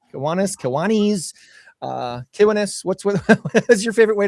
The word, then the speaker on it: Kiwanis: Actually, it's Kiwanis, and you said it right. So there's a lot of people that say Kiwanis, but Kiwanis is correct.